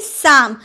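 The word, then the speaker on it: psalm: पहले पी आया तो पी का उच्चारण नहीं करेंगे हम बोलेंगे शाम हम लोगों ने इससे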